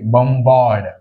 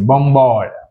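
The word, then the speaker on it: bombard: బాం్ right but ఇక్కడ బాంబ్ కి మనం ఏం యాడ్ చేసాం ఏ ఆర్డి యాడ్ చేసాం. యాడ్ చేసినప్పుడు ఏమవుతుంది అది బంబార్డ్ చూడండి ఇక్కడ బి ప్రొనౌన్సియేషన్ వచ్చింది బంబార్డ్ బాంబ్ అంటే బి is silent but బి తర్వాత బాంబ్ తర్వాత మళ్ళీ ఏఆర్డి యాడ్ చేయడం వల్ల ఏమైంది ప్రొనౌన్సియేషన్ అంటే బి అనేది ప్రొనౌన్స్ చేయాల్సి వచ్చింది బంబాడ్ బంబార్డ్ ఇక్కడ ఏ సైలెంట్ అయింది అంటే ఆర్ సైలెంట్ అయింది బంబాడ్ ఇక్కడ చూడండి బంబాడియ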